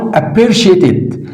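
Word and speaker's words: appreciated: ده اسمها بالانجليزي اي ابيرشيتد هنا السي اي اللي هو بتنطق شين اي ابيرشيت ات انا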